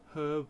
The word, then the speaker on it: herb: Small herb garden. Now that's herb with a H. Some of you watching may have the American pronunciation of herb. That would be peculiar. It's got a H on it.